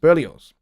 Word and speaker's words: Berlioz: that that don't know who berlioz is um is spelt uh b-e-r-l-i-o-z there's no s-e at the end it's z at the end burlios uh his music is actually pretty unsettling but